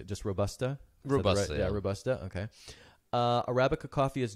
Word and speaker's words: Robusta: Robusta, Robusta.